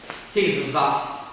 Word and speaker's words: selva: In napoletano si dice selva, che usa l'accento acuto per distinguerla da serva che usa l'accento grave, e questo cambia la E aperta e chiusa, quindi sono due termini diversi che dicono due oggetti diversi.